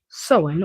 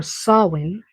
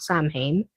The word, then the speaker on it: Samhain: So, the word sen or sin, pronounce it how you like, just not Sam Hane.